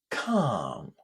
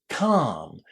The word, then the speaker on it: calm: Well, lots of students would find it quite surprising that the L inside this word is silent. We don't say it calm. It's just a long a inside. The long a sound.